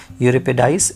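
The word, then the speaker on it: Euripides: यूरिपिडाइस, इसको शायद Greek word है ये, तो इसका प्रोनाउंसिएशन है यूरिपिडाइस।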